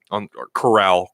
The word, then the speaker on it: Corral: on the on coral corral Coral Harry pronounced his name sound like sound like the walking dead coral Coral you don't know